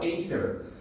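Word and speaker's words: Aethir: going to be ather a t h and it's spelled a e t h i r a e t h i r ather the tier is a like alltime high you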